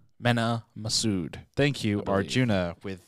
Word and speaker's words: Mena: is going to be cast as by uh mina mena masood thank you arjuna with the pronunciation he's most known for the live-action adaptation